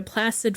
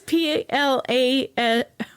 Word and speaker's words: Placide: Back in New Orleans, whoever they hired, a Placid Forstall, Placid. His name is Placide.